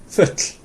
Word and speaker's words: full: And to do this, what you do is, it's like you're going to say oh, okay, but you just make it into one event. So rather than going oh, you build up air in your mouth and you go yeah, that's it. Futl.